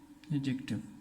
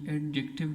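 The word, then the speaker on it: adjective: आगे अगर मैं एडजेक्टिव की बात करूँ, एडजेक्टिव, ये ध्यान रखना ये एडजेक्टिव नहीं है, ये एडजेक्टिव है। ये डी जो है यहाँ पे साइलेंट है।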